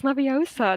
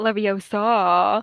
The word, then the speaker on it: Leviosa: Like she's like a Hermione Granger there, like it's Leviosa, not Leviosa.